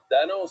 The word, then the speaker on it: Danos: Danos, that's how you pronounce it.